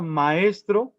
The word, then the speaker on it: maestro: Teníamos 2 tempos para la palabra maestro, que desafortunadamente tiene 3 sílabas, maestro, y se acentúa en la segunda, es una palabra grave.